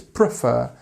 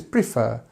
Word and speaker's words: prefer: word prefer actually um it depends where you are in the country to how you would say it it's always fur but sometimes it's prefer sometimes it's prefer it depends and it's both completely okay actually so don't worry about that